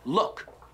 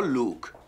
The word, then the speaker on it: look: Look, no Luke. Luke, yeah, it's a person's name.